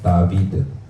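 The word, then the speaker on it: דָּוִד: 다윗 이렇게 하는데 원래 히브리어는 다비드입니다. 다비드.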